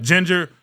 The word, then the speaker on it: Jinjer: Ginger, spelled with a J. Jinjer.